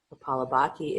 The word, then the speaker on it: Kapalabhati: Kapalabhati is to clear cobwebs in the mind.